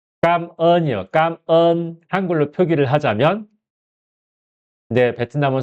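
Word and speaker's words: cảm ơn: 발음이 어 까언이요.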